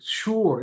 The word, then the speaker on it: sure: তো এস দিয়ে শুরু হলেও কিন্তু উচ্চারণ কিন্তু সা হয় না। যেমন SURE কি বলি, শুয়োর এরকম বলি, শিওর এরকম তো বলি না, শুয়োর।